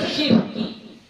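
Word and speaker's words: شِرْكِ: Pertama kita baca syirki. Syirknya baris bawah, ro-nya baris sukun. Syirki. Kita bacanya gitu, ya.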